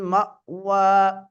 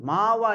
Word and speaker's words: مأوى: ஹம்சாவையும் தெளிவாக என்ன செய்ய வேண்டும்? உச்சரிக்க வேண்டும். அந்த ஹம்சாவை என்ன செய்து விடக்கூடாது? மஅவா என்று அசைத்து விடுவதோ, கல்கலா செய்வதோ, அல்லது மஅவா என்ற ஐனாக மாற்றி விடுவதோ கூடாது. மாவா என்று அலிஃபாக மாற்றுவதும் கூடாது.